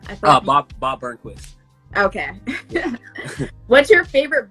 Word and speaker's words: Bob Burnquist: Bob Burnquist.